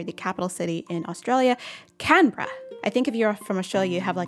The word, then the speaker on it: Canberra: americans and english speakers looks like canberra which would be a